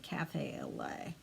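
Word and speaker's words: café au lait: Okay, so it's stitched on 40 count Cafe au Lait, and I did not know how to pronounce that last time, but since then I've heard somebody say Cafe au Lait.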